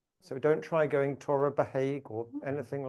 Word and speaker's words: Torabhaig: And if you just try and remember something like the Irish girl's name, Siobhan, and the spelling of that, that might help you remember how to pronounce Torabhaig.